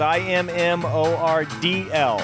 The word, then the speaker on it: Immordl: So it's IMMORDL. It's like you phonetically say it, right?